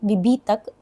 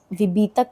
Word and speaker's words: विभीतक: हरितकी विभीतक आमलकी। ध्यान दीजिएगा दोस्तों आप लोग विभीतक का प्रोनाउंसिएशन कई बार गलत बोलते हैं। विभीतक है वह विभीतकी नहीं।